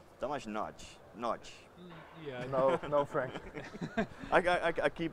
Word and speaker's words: Tamás Nagy: Yeah, and the correct way to pronounce it, I actually just ask, is Tamás Nagy. Tamás Nagy, Yeah.